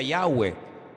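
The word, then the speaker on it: Yahweh: yot he Bad hei verdad ese nombre se pronuncia yahwe Ese es el nombre que aparece en el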